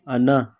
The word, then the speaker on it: anak: यहाँ पे भी के साइलेंट ही होगा, ठीक है। अना, अनाक नहीं बोलेंगे हम।